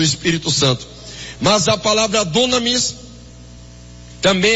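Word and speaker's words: δύναμις: Então, no grego, a palavra virtude, no grego, o significado, a pronúncia, a escrita da palavra poder ou virtude no grego é dunamis.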